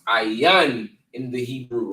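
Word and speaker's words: עין: this is ayrian for I right and it's pronounced aan in the Hebrew right and it means I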